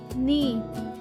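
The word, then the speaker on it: knee: नी के साइलेंट है। इस वजह से हम इसे पढ़ेंगे नी।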